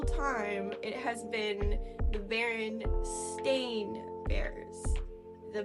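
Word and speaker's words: Berenstain: so the barstein Bears and I remember always pronouncing it barstein because it had an EI in it I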